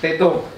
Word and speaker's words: Tetun: Oh, tetung. Tetum. Tetung. Tetum. Ya, tapi bacanya Tetun. Tetun.